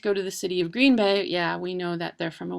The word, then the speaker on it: Green Bay: The Packers come from this city, and then the correct pronunciation of this city is Green Bay. I'm going to Green Bay, but the national broadcasters will say Green Bay.